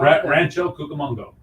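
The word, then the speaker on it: Rancho Cucamonga: under a bridge in um somewhere I can't pronounce it Kongo Rancho Kongo Rancho cucamongo cucamongo thank you yes ma'am the Southern California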